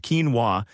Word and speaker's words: quinoa: Quinoa, pronounced quinoa, is a nutritional powerhouse